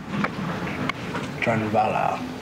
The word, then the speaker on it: Drunvalo: And how do you pronounce his first name? Drunvalo? Drunvalo.